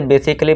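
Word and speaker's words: basically: इसे बेसिकली पढ़ेंगे। देखिए यहाँ ए के बाद क्या है, डबल एल वाई है, तो ये ए क्या है, साइलेंट है, बेसिकली।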